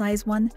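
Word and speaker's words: IZ*ONE: members of eyes one stylized as i z star one and pronounced as eyes one were revealed chaiwan placed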